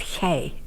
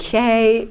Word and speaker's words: gij: And I spoke with a southern Dutch accent, which means I spoke with a soft G. So, and where we didn't say jij or zij or hij, we said gij. And gij is, in English it